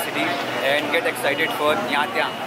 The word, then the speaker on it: Nha Trang: So guys, it's time to से good by two Ho Chi Minh city and get excited for यहाँ त्या, इट्स the correct pronunciation by द वे।